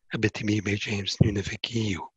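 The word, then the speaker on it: Abitibi—Baie-James—Nunavik—Eeyou: have globally are also in that writing of Abitibi-Bay James Nunavik-Iyu, which you pronounced right, by the way.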